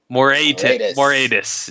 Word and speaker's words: Moratis: It is Moratis in the top lane.